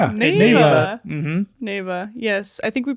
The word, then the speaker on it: Neva: hello welcome to the podcast today we're covering Nava correct NAA mhm Nava yes I think we pronounced it Nea uh last episode but we've decided that it's